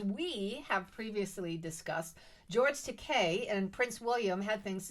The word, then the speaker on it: Takei: George Takei. Is that is right? great. Did I say it right? Yes, as in toupee.